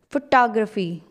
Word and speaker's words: photography: what does it become it is not photography it changes it changes to photography photography okay wow that's the